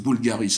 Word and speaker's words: Voulgaris: Voulgaris, c'est Bulgaris, hein, c'est pas le vulgaire, mais c'est le... Mais c'est bon, tout le monde tient à le prononcer.